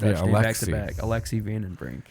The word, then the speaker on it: Alexei: you say it oh the first name actually alexi my is dodging oh his name is dodge so i have like a russian name i have the most russian and the most alexis that's why i was like is it a